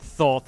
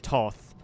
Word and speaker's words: Thoth: That I think that might be the first time I've heard Thoth instead of Toth. Then again, why why not then again it's like why not pronounce the first th and then pronounce the second th?